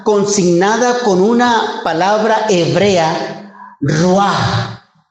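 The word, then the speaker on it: רוּחַ: Entonces, en el Antiguo Testamento, la palabra Espíritu Santo o la palabra Espíritu está consignada con una palabra hebrea, Ruah, R-U-A-H, Ruah. A ver, pronúncialo conmigo, Ruah, Ruah.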